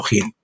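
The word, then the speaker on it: hin: y jin justo tendréis aquí decimos no ponemos e eí porque se pronuncia jin por lo menos yo siempre lo heido probar no in sino jin Jesús dijo que este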